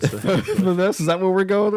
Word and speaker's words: Thanos: Thanos. The nose. Thanos, is that what we're going with? That's what I was thinking too. Is it the nose? Thanos. Okay, Thanos. No, Thanos. Okay, much like Thanos.